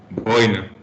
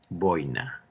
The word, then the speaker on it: boina: voy a decirles que la pronunciación es simplemente grave aquí. Boina. Si ustedes dicen boina, como mucha gente comete el error de hablar así, necesitaríamos tildar, porque al decir boina, tenemos que tildar.